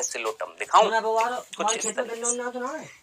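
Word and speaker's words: Psilotum: ठीक है, देखना चाहेंगे कैसा दिखता है सिलोटम? दिखाऊं कुछ इस तरह। ये है बेटा जी आपका सिलोटम। आप बोलेंगे सर इसमें तो अंग्रेजी में पी आ रहा है, पी बेटा साइलेंट है यहाँ पर।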